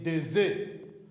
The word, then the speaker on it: des œufs: Say des œufs. Des œufs. Des œufs. E. Don't pronounce the S. Just say des œufs.